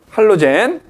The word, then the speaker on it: 할로젠: 그 다음에 이제 17쪽 할로젠 17쪽 할로젠 17쪽에 있는 애들 할로젠 또 옛날에는 할로겐이라고도 했어 독일식이냐 뭐 미국식 영어 발음이냐 차인데 할로젠 원소 그지 그래서